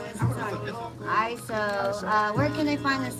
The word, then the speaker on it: Iso: I've been saying your name wrong this time. ISO.